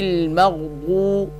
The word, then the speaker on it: المغضوب: غین سے ملائیں گے، میم غین زبر مغ، غیر المغ، ضاد واو پیش دو، غیر المغضوب، با زیر بی، غیر المغضوب، عین زبر ع، لام